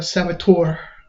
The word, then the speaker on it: saboteur: Yeah, I don't think 34 Metacritic is a saboteur. You gotta pronounce it correctly. It's Saboteur. You gotta add the emphasis on the tour.